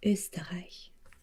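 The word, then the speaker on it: Österreich: liechtenstein and germany and in german you pronounce the name as usta which i guess is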